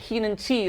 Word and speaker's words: Keenan Te: but first of all am I pronouncing your name correctly yes perfectly keen and te like IC tea like IC tea exactly right um I've heard